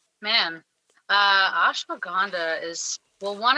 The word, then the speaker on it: Ashwagandha: So yeah, we're switching gears a little bit and we're going to talk about Ashwagandha. I said it right. Oh, I love Ashwagandha.